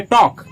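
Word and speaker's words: talk: आप बोलेंगे लेट मी टॉक। टी ए एल के। इसमें यह जो एल है उसका उच्चारण नहीं किया जाता है। लेट मी टॉक।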